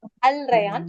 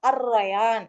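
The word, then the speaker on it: الريان: இருக்குல்ல அதை எப்படி சொல்லுவீங்க அப்ப அல்ல உச்சரிக்க கூடாது ரயான் அல் ரயான் சொல்லுங்க கூடாது அது கரெக்டா சொல்றதா இருந்தா அர்ரயான் அப்படின்னு சொல்லணும் ஏன்னா லேமை உச்சரிக்க கூடாது சரியா அப்போ டிப் ஆப்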